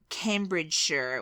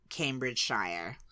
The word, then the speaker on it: Cambridgeshire: Cambridgeshire was the first one, but I would have said, before knowing you, Cambridgeshire. Yeah. Shire, I think all Americans because you pronounce. love saying Shire, because you think it's the Shire and Robin Hood. And, well, it's I-R-E.